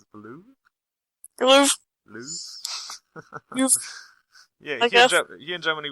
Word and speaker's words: Louvre: I visited the Eiffel Tower a little bit, just looked around and stuff, and then went to the Louvre.